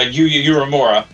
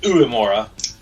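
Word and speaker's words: Uemura: rinda rita and uh uramura yeah now i can't remember how to pronounce his name you mora yeah well technically it's like uemora solid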